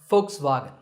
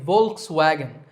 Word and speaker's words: Volkswagen: another German car manufacturer Volkswagen I personally used to say Volkswagen but I have since learned that the initial V is actually pronounced as an F sound in German so the first part